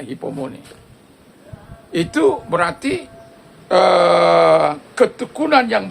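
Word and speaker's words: ὑπομονή: Dalam bahasa Yunani, kata hypomone, kalau tulisnya hupomone, bacanya hypomone.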